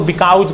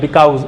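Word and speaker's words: because: अब यहाँ पे बिकॉज जो है, कुछ लोग इसको बिकाउज पढ़ते हैं, बिकॉज, इट्स बिकॉज।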